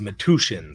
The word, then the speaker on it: Metuchen: It's pronounced Metuchen, somebody says in music lists.